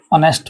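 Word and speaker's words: honest: Just an ऑनेस्ट मैन। यहां पर क्या ये साइलेंट एच ओ साउंड आ रहा है।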